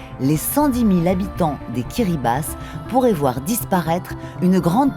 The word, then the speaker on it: Kiribati: Les Kiribati, qu'on prononce Kiribati, ce sont 33 îles et atolls qui affleurent à seulement quelques mètres au-dessus du Pacifique.